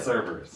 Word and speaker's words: Kerberos: Yeah, Kerberos, not yeah. Cerberus.